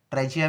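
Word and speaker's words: trachea: Wind pipe का scientific नाम है ट्रेकिया और ट्रेचिया भी बोल सकते हो उसको आप लेकिन ट्रेकिया प्रोनाउंसिएशन में यूज़ होता है।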